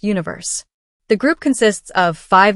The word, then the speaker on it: 1Verse: the K-pop boy band one verse pronounced Universe the group consists of